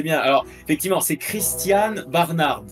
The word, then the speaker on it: Barnard: Alors, effectivement, c'est Christian Barnard. Le d prononce effectivement mais bon, on va l'accepter, on va dire, c'est la même orthographe.